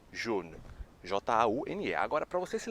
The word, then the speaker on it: jaune: Mas a pronúncia é praticamente a mesma coisa.